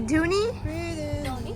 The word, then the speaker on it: dhoni: this is the tuni how do you say dooney tony so that's the dhoni we're gonna be taking to do some fresher